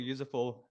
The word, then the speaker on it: useful: We do have that Uzbek problem where they find it difficult just to say things like useful, to connect that s with the f, useful, that they often want to add a syllable.